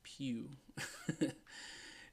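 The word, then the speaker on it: Pugh: okay like like modeling it's pronounced Pew didn't he do chicken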